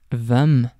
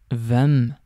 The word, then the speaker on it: hvem: Before getting on to the words themselves, I just want to note that most of these question words start with HV, and the H in these words is silent.